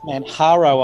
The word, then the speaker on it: Manjaro: You better not use Manjaro dust because that's meant to be pronounced Manjaro, I believe.